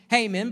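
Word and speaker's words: Heman: the 90th psalm haman spelled he-man but it's pronounced haman but anyways uh he-man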